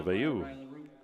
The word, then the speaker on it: Vayu: So Vayu. We've been calling him Velo, but it's Vayu, I guess.